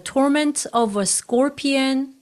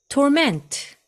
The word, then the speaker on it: torment: them and their torment was like the torment someone 여기서 고문하다 이런 단어가 여러 번 나오는데요이 단어는 동사와 명사를 발음할 때 액센트의 위치가 다릅니다 동사 때는 torment torment 이음절 액센트가 있고요 여기서 앞에 투가 있으니까 이것은